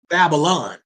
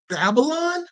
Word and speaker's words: Babylon: That's the Hebrew transliteration of pronouncing it. The Greek transliteration of pronouncing it is Babylon.